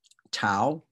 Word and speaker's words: tau: okay as in sat tau which pretty much looks like a t and it is t is in tub yup salon which looks